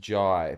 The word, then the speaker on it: Jahai: Name is pronounced Jai, by the way. Really? Your name is pronounced Jai, but it's Jahai.